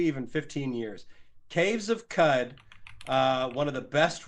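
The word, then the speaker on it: Qud: 15 years caves of cud uh one of the best Rog likes out there cud is spelled with a q q u d uh left early access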